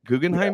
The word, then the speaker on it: Guggenheim: You're Guggenheim. Did I pronounce that right? Guggenheim?